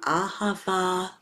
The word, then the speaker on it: Ahava: Call in the sacred words of Ahava, love, all three syllables are Ah, the universal vowel for love.